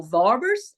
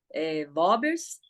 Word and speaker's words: Worms: Aí o edito de Worms, ou Vorbers, eles falam isso, né? Vorbers.